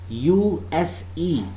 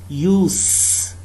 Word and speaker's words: use: Remember, if the word use is a noun, its pronunciation is use.